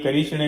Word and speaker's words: कृष्ण: साक्षात कृष्णो प लभते अर्थात कृषण कृष्णा नहीं कृषण है क ऋषण